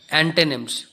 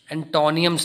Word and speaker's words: antonyms: इसको डेजिग्नेट करते हैं, बट इसकी जो बेसिक प्रोनाउंसिएशन है वो है एंटोनिम्स, एंटोनियम्स नहीं है।